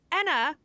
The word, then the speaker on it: Anna: they're just saying like I'm here with Anna hazut and I'm like yeah that's fine like that's how you say my name and then other people think then they take that and then in American they say oh it's Anna and I'm like oh wait no that's wrong right so you know